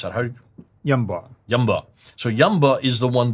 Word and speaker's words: Yanbu: Yamba. So Yamba is the one that supplies all the needs for Yathrib, because Yathrib is in the desert. I mean, in Hijaz, we call it Yumba, by the way, but it's in Yunba, classical